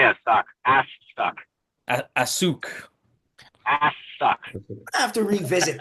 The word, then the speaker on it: AAWKS: Something by uh is it asuk or as depending on how you say it? Yeah, it's so I say a suck ass.